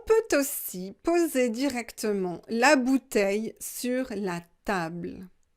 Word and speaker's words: bouteilles: aussi poser directement la bouteille sur la table une bouteille des bouteilles on ne prononce pas le elle en prenant si une